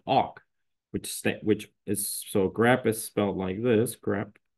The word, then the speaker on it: awk: Yeah, so today we're going to cover grep and awk.